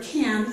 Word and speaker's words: can: All right, with the word can, I told you that it is reduced. The vowel is either a or it. But when the word can is not followed by a verb, it can also be the full a vowel sound, okay?